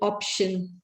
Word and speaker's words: option: Secondly, pronunciation of sh needs to be corrected. You said option.